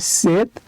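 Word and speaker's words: 셋: আর নিচে আছে আরেকটা সিউদ তো সিউদ যদি নিচে বসে তার উচ্চারণ হবে ত তাই এটার উচ্চারণ হবে সেট আর সেত মানে হচ্ছে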